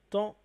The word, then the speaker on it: tends: dis je tends, ici, le D n'est pas prononcé. Donc en fait, c'est comme si le D était muet. Donc si le D est muet, c'est comme si ici, je disais je tends avec un H.